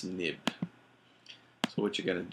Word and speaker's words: xib: viewcontroller.m and the third viewcontroller xib which is pronounced nib so what you're going to do is you're